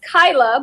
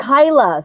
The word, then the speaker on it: Kyla: It's actually pronounced Kyla, but I know people have a hard time with it because it looks different than it is.